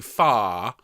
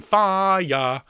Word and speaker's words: fire: fire the other week we sing far rather than fire okay i don't want that second syllable so we go up